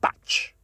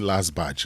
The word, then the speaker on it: batch: Badge and batch. That is how you say it, right? And that's how you say it, right? Don't be saying last badge. Last badge. Don't do that.